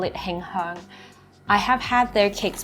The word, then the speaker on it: Him Heang: In Cantonese, we call it Him Heang.